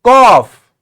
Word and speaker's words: cough: say it it is cough yes cough what sound are we hearing like say on and off off yes cough here we have a